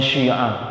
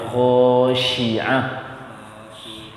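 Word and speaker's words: خاشعة: Pengucapan shin, bibir tidak boleh monyong. Shi. Ya. Berarti bibir saya apanya? Anginnya udah pas. Yang bibir saja, jangan dimonyongkan. Yang shi. Ashi. Itu aja. Ghashiyah, khashi'ah, sama ya. Jangan syi'ah, ya khashi'ah. Wujuhun yawma idzin khashi'ah.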